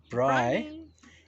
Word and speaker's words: braai: word for rhinoceros and braai as in bry that's that's uh her